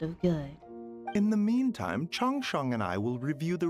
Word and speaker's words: Changsheng: Oh, must be a rare condition if not even Baizhu and Changsheng have seen it before.